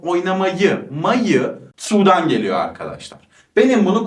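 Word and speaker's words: mag: burada böyle telaffuz edilir Bu m a g mak diye okunmuyor ama ma diyorum yani buradaki sesli harfimi uzatacağım Ben Almancada Zaten çoğu zaman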